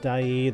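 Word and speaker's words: Dyea: earlier on Skagway and dyi I believe it's pronounced after looking it up which of the two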